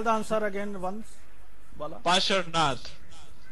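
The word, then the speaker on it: Parshvanath: Yes, missed by pronunciation. Paras. It's Pasharnath.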